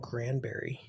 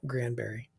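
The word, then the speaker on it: Granbury: outside of Fort Worth little town called Grandberry um it's spelled Grandbury but I've never heard it called that before okay Grandberry um love Texas it's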